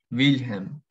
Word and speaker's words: Wilhelm: Bien, y luego la W se pronuncia como una V, como una V corta, ¿sí? Por ejemplo, Wilhelm, que es un nombre.